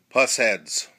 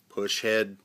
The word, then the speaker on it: Pushead: way you pronounced it it could be push head P head I've heard various different flavors I believe the best interpretation of them is puss head I'm sure there'll be